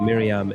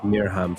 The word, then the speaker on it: Miriam: I heard Miriam say her name like Miriam in an interview. I don't think she says it like Mirham for what it's worth.